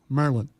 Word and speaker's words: Maryland: maryland how about the maryland maryland territory all right let's just do it the way they do here merlin merlin there we go merlin